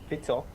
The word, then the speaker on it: Fico: So his name is Robert Fico, as that is how you pronounce it.